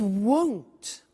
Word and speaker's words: won't: It won't be sunny is the negative. Won't, remember the difference between will not, won't, and want, won't, want. So be careful with that pronunciation.